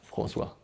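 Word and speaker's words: François: Of course, some people have a little trouble pronouncing it, but for everyone: It's Francois.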